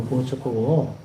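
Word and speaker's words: Płock: 역사를 보면 2월 22일 플록 혹은 보츠크라는 지명이 이제 폴란드어로 보츠크고 플록은 또 영어 발음이죠.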